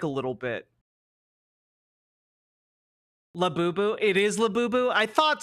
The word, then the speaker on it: Labubu: Labubu.